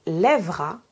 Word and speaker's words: lèvera: La règle est donc, lorsque j'ai deux consonnes prononcées avant mon E, je dois prononcer le E. Mais si j'ai un seul son consonne prononcé avant mon E, je peux prononcer le E ou non.